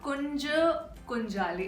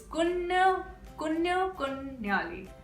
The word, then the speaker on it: Kunju Kunjali: It's not Kunja Kunjali. It's Kunyu Kunyali.